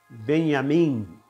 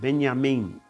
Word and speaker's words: Benyamin: to that last part Min is pronounced as if there was an e added to the m i n and e but the